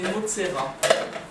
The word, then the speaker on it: Metzora: En tout cas, la Metzora, ça s'écrit comme ça, Metzora. Et on dit... Peut-être que ça s'écrit, il y a un Aleph là, je sais pas. En tout cas, c'est Motsera.